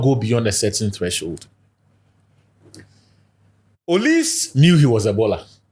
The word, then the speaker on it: Olise: The other guy is Michael Olise. The case he said the French pronunciation. Olise.